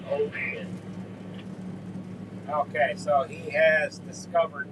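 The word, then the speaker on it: Wouxun: brand of radio wson he said it's pronounced Ocean or something like that with the TR Chinese translation now you might say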